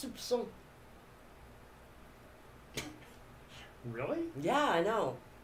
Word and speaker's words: soupçon: But it was a Sousson. So how do you say that? I guess I need to correct that. You actually pronounce the P. It's soupçon.